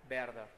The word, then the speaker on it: Werther: Claro, algunos dicen Werther por una mala utilización de la letra W, en alemán se pronuncia como pronunciamos nosotros la B de vaso o de vaca, así es Werther, no Werther.